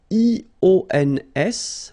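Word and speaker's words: -ions: So now let's see nous, and nous goes like I-O-N-S, okay? And it should be pronounced ion. Remember, final S is not pronounced.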